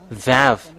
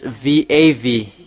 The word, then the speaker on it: Vav: This is Vav. It's V AV.